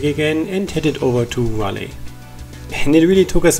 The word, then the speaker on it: Raleigh: We started the next day very early to avoid traffic again and headed over to Raleigh. And it really took us a while until we figured out that it's pronounced Raleigh.